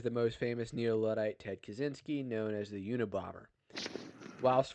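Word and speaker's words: Kaczynski: he says kazinski someone says Spangler no it's kachinski I'm not saying it right this is America kazinski kazinski himself pronounced it kazinski it's America we we don't say kajin he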